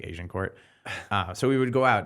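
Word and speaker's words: Agincourt: In Toronto, one of the most Asian areas it is called Asian Court, but it's not. It's spelled AGIN, Asian Court, but it's obviously sounds like Asian Court.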